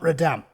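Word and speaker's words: Notre-Dame: heart of notre dame start saying that like an american not radam the hunchback of notre dame don't want to lose me remember not to pronounce those h's one elderly victim who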